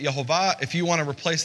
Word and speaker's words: Yehovah: Again, I've said, based on the earliest Hebrew manuscripts, I pronounce it Yehovah. If you want to replace that with Yahweh, knock yourselves out.